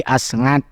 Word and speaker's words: Asngat: Makanya ini jadinya Aseng itu karena Asngatnya pakai SNG jadi enggak Asat tapi Asngat.